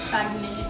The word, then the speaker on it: Saguenay: Saguenay.